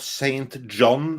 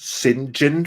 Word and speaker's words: Saint John: of like when you have saint john and it's pronounced sinjin from some weird reason